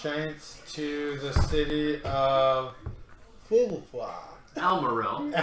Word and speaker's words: Almorel: goats and giants, frost giants, to the city of Almorel. Almorel. That's how the locals pronounce it.